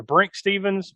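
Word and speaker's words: Brinke Stevens: It's either Brink Stevens, BRN.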